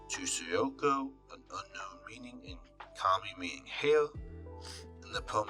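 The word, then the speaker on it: 髪: The element Kami hair is the homophone of the Kami spirit, both pronounced Gami in compound words.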